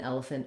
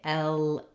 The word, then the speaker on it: elephant: have another E in elephant and elegant, and that syllable is not stressed. It goes by quickly and it has a reduced vowel. So we don't say elephant, but rather elephant.